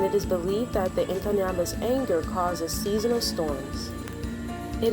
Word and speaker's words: Inkanyamba: creature called the Inkanyamba, and here is the pronunciation. The Inkanyamba is a legendary snake said to live in a waterfall lake area in South Africa called Howick Falls.